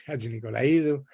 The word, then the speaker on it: Hadjinicolaidou: For those of you who are wondering how that's pronounced, it's Hadjinicolaidou, and you will see in a few minutes why we have invited her today.